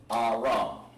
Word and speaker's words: Aram: Aram would be called, pretty much how it's pronounced on this one, Aram. Aram. And for the benefit, just like that. That's the Hebrew. That's how it's pronounced. And it's very vital that you understand all three columns, especially these, because that's how you're going to be able to translate it. Sounds just like it says, Aram.